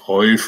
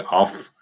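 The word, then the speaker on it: אויף: Jidiš podoba je auf, toho vlastně to spojení toho předložky, která je německy auf, němec, jidiš oif, a taky se vyslovuje af.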